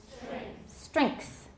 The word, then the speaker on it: strength: sand string go ahead strength you put the K in there your pronunciation will be right on them right on the nose